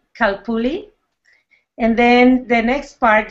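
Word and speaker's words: Calpulli: Please, how do you pronounce the name of your group? It's very simple. You say Kalpuli, Kalpuli, and then the next part, you can break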